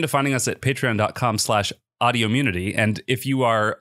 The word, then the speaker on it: Audiommunity: even say it now it is audio immunity same number of syllables as autoimmunity but it's autoimmunity isn't it clear it couldn't be